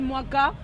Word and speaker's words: Muaka: Non, pas du tout, c'est mon nom congolais, ça se prononce Mwaka comme Mwaka.